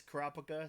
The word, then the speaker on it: Kurapika: don't know if it's Kropka, Kurapika. I done heard so many different pronunciations of the name, The man. anime says Kurapika, so I'm gonna say Kurapika. That's how Gon, Free, and Killua say it.